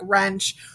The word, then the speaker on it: wrench: try to remember that the w is silent it makes the er sound okay here are some examples we have words like wrench wrecked wrestle wrist run